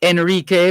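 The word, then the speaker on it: Henrique: turned to vice admiral enrique enrique and that enrique pronounced without the h but spelt with the h h e n r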